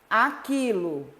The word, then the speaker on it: aquilo: Aquilo, o U não é pronunciado.